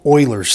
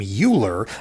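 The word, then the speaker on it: Euler: neat this is called Oilers theorem everybody wants to pronounce this name uler uh but it's actually Oiler he was a really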